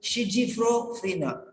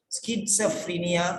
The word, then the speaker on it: schizophrenia: person told schizophrenia. We don't know what type of pronunciation they are using because they don't know the pronunciation.